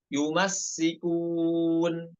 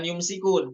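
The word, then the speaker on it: يُمَسِّكُونَ: Nomor 17 yumassikun. Bukan yumsikun. Yumsikun itu pada riwayat lain, namun pada hafaz sinnya dibaca tasydid. Yumassikun.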